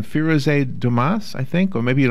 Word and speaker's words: Dumas: I mean, if we're going to be really picky, it's a French name. And, you know, if you ever took French, you remember the S at the end is silent. So it's Dumas.